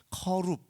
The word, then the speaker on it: 커룹: 원래는 이제 히브리어 원어로 하자면 커룹 이렇게 발음을 하는데 이걸 이제 우리식으로 발음하다 보니까 그룹이라고 쓴 거예요. 천사들, 초월적 존재들을 상징합니다.